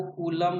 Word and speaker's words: Coulomb: तो आवेश का अंतरराष्ट्रीय पद्धति जो होता है वो कूलम होता है। क्या होता है बाबू, कूलम होता है। अंग्रेजी में इसको COULOMB कूलम्ब लिखते हैं।